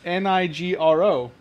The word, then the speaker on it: Nigro: It's Nigro. So it's either Nigro or Negro.